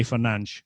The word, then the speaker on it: Fernandes: But I'm afraid to say that Bruno's name has been horribly mispronounced since he arrived at Manchester United. And it shouldn't be that hard. I would wager both of you guys could say Fernandes quite easily.